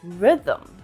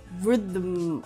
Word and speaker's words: rhythm: And sometimes we don't even represent it in spelling in words such as rhythm. I really like the rhythm of the song.